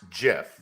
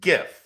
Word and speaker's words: GIF: technically the guy that invented it says it's pronounced jiff he didn't invent english but it's gif like that's how it's like that's how it